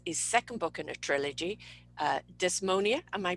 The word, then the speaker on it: Dysnomia: Her new book, which is his second book in a trilogy, Dysnomia, am I pronouncing that right? Dysnomia, pretty close. Dysnomia, right, there we go.